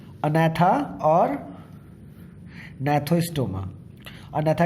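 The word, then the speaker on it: Gnathostoma: एग्नाथा और नैथोस्टोमा। नैथा का मतलब होता है, ये जी की साइलेंट है, नैथा का मतलब होता है जॉ, और का मतलब हुआ नहीं है।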